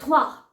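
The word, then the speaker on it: trois: आर ओ आई एस मैंने आर का जो जैसे प्रोनंसिएशन मैंने बताया था कि आ वो ऐसे थवा ओके थवा ऐसे करके बोला जा रहा है तो यहां पे आर प्रॉपर्ली त्र र की आवाज नहीं आनी चाहिए जैसे कि हम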